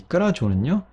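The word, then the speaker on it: κράζω: 근데 끄라교 역시 발음하기 쉽지 않아요. 끄라교, 끄라교. 그래서 이 끄라교가요, 마찬가지로 끄라조로 발음이 변화가 되게 돼요.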